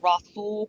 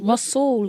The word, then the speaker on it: Rhassoul: But to offer a solution to Rhonda Mary, have you ever heard of Rasul clay?